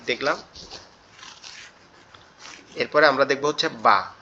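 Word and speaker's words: ب: আর বা আমরা কোথা থেকে উচ্চারণ করব? বাটা আমাদের দুই ঠোঁট একত্রে লেগে যাবে, পৃথক হয়ে যাবে, তখন আওয়াজটা বেরোবে বা বা বা, এরকম ভাবে।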